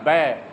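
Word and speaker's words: bear: इट इज़ अ बेर, ये क्या है? बेर, भालू है। कई लोग इसको बियर पढ़ते हैं, बेर।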